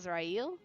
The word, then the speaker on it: Azrael: Well, he is pronounced as Azrael.